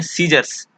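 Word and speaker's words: scissors: और अगला जो है सीजर्स, कैंची, इसमें सी साइलेंट होता है, इसको पढ़ते हैं सीजर्स। सीजर्स, इसमें सी साइलेंट होता है, सी को नहीं पढ़ा जाता है यहाँ पे।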